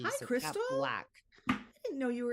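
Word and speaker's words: Blaque: But so it's just Kat Black, like K-A-T, and then Black spelled with like a Q-U-E, B-L-A-Q-U-E. Hi, so Crystal. Kat Black.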